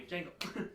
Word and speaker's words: Django: Django got his head removed by Mace Windu. Yeah, No, Django. No, Django with the D in front of it. Thank you. Django. The D is silent.